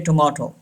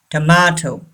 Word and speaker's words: tomato: the long sound tomato don't say tomahto it's wrong tomato number 6 tongue dis.n